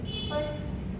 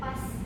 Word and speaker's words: pas: Selanjutnya kata pas terkadang terdengar agak melemah seolah menjadi pes bukan pas penuh.